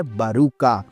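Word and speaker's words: Baruka: जो कि होता है बारूका अब देखो मैं बता दूं इसके स्पेलिंग अगर देखोगे तो इसमें बारका लिखा हुआ है लेकिन हां दग पति जो थे उन्होंने इसकी डबिंग कर रखी है जब उन्होंने इसका नाम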